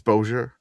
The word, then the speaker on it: Bossier: How do you pronounce Bosier? It's It's Bojer.